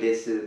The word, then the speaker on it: desu: So let's note please the pronunciation of su at the end. As you see, the u hasn't been pronounced here. The u wasn't pronounced.